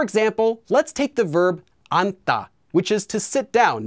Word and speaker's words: 앉다: bit so for example let's take the verb anta which is to sit down notice that due to sound change rules this is pronounced as an if the verb stem is